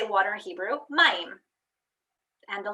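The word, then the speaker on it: מים: Maim.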